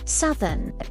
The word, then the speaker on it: southern: Just like the south. Southern.